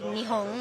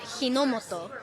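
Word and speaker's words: 日本: So one word, we would now say Nihon, which is Japan, Nihon, and you would read it Hinomoto, which is completely different.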